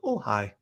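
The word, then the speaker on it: Ojai: Uh, O J AI. I am going to visit Ohhigh and spend a night in Ohhigh.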